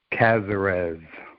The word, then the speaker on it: Casarez: Chris and I'm not gonna even try to pronounce your last name Chris how do you say it cazarez that we've got Chris cazarez that was pretty good right he is joining